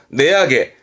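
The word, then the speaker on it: 値上げ: 내약에. 가격 인상이네요. 내약에. 그러면 가격 인하네요.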